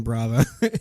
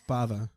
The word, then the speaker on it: Bava: life I think I kept saying brav Yeah and then you know you watch the movie once and you're like oh it's Bava but it just sounds